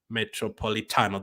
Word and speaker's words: Metropolitano: to babell or metrop I always have a hard time saying Atletico Madrid's stadium name metropolitano that's how to say it right that's how to say